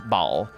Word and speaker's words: Baal: Because Baal, actually, it's pronounced Baal in Diablo.